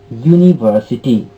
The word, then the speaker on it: university: if we say university university starts from you you is actually above letter isn't it but pronunciation is university so your sound is there that's why before university we cannot use n pin cannot be used before university because the sound is the consonant sound okay similarly it's o